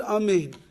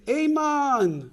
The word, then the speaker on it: Amein: And that is that if you mispronounce one of the vowels of the word Amein, so I don't know, you'll say Amen or something like that, it will not be the way that Amein is supposed to be said.